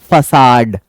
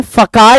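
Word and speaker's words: facade: फसाद खूबसूरत होना चाहिए अब देखो मैंने क्या बोला फसाद मैंने फका नहीं बोला है मैंने बोला हालांकि इससे पहले कि जब सी के बाद ए आता है तो हम क पढ़ते हैं लेकिन ये एक्सेप्शन है इसको हम स पढ़ेंगे फ साड बोलते हैं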